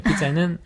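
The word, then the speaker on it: pizza: 예, 피자에는 스펠링은 ZZ 네. 예, Z가 두 개가 들어가 있지만 발음은 Z 발음이 아니다라는 거.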